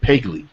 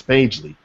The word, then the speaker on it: Pagely: of promic but my my wife pronounces it pegley now I don't I don't understand where how she beats me but she calls it pegley I had to correct her all the time it's pagely yeah yeah like like the